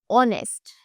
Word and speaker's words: honest: तो क्योंकि हमें यहाँ पर एच अगर साइलेंट कर दे तो आवाज आ रही है अ की, ऑनेस्ट, आर, राइट।